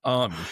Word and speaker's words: Amy: It's not Buzz's fault your name is spelled Amy. But people to be honest, the only reason why I know it's Ame is because every time he calls me, he says, "Hey, it's Jeff Ame."